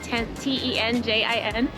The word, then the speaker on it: Tenjin: We've made our way into the neighborhood that I think is pronounced Tenzin, like Tenjin.